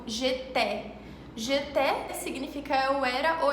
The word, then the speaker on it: j'étais: A e S tem um som de E, como j'étais.